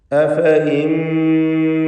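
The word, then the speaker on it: أفإين: അഫഇൻ ഈ പദത്തിൽ സായിദയായി എഴുതപ്പെട്ടിട്ടുള്ള യാഇനെ കുറിച്ച് പലരും സംശയിക്കാറുണ്ട്. യഥാർത്ഥത്തിൽ ആ യാ ഒരിക്കലും ഉച്ചരിക്കപ്പെടുകയില്ല എന്നതിൻ്റെ സൂചനയായി അതിനു മുകളിൽ ഒരു പ്രത്യേക ചിഹ്നം വൃത്താകൃതിയിൽ നൽകിയിട്ടുണ്ട്. അത് സൂചിപ്പിക്കുന്നത് ഉച്ചാരണത്തിൽ ഈ യാ ഉണ്ടാവുകയില്ല എന്ന് തന്നെയാണ്. റസ്മിൽ വന്നിട്ടുള്ള യാ അതിന് പ്രത്യേകിച്ച് വിധിയൊന്നുമില്ല. അഫ ഇൻ എന്ന് തന്നെ വായിക്കേണ്ടതാണ്.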